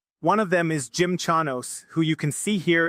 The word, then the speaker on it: Chanos: At least according to Jim Chamos, uh, Chanos, I always say his name wrong.